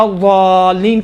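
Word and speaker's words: الضالين: اس زین اور ضاد کا اشتباہ سے بچنے کے لیے قرآن آ کے اس کا تلفظ دال جیسا کیا ہے. دال جیسا ہے، دال نہیں ہے.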